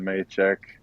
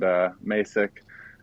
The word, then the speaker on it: Masek: with the founder, Ken Maychek itself, and Masek, as most people say. I mean, as it's pronounced, I don't know why I say Maychek. It's just instilled from the past.